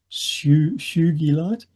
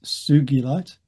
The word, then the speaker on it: sugilite: And that's one that often gets pronounced su shugite. It's sugilite named for kenichi sugi.